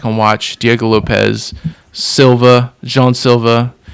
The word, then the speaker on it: Jean Silva: watch Diego Lopez, Silva, Jean Silva, Jean Silva, or as Bruce Buffer said, Jon Silva. This this guy has a million ways to pronounce his name apparently.